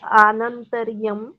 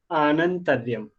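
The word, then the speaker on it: आनन्तर्यम्: ये जो है ना यहाँ पे ये छोटा अप्रोनाउंस ना करके ये बड़ा प्रोनाउंस किया जाएगा, तो वो क्या होगा, आनंतर्यम। ठीक है, जी सर।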